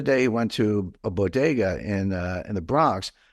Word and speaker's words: bodega: couple years ago and she said Boda and I was like what the heck's Boda but I realized that she couldn't pronounce Bodega which is you know Spanish that's how you say it uh but I